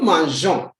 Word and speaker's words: mangeons: The E does not sound to say nous mangeons, like how some people pronounce it. But you say nous mangeons, simply because the G is before a vowel like O. If you do not bring the E, the G will sound K to give you the sound